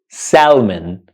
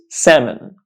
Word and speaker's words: salmon: and so many other English Learners out there pronounce this word Salon which is the wrong pronunciation we don't pronounce